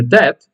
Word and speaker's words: debt: a payment on her debt you don't pronounce the b by the way she a payment on her debt every month every month